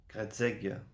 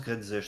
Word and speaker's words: Gredzej: Gredzeg. Gredzej. Ah, ça se prononce Gredzej, très bien, je note. Il y a un J, ouais.